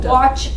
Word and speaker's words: watch: Oh, watch. Okay, oh, octopus ah. What about watch? A. Anytime you have a W by an A, it's pronounced now what? Ah. It's no longer pronounced A.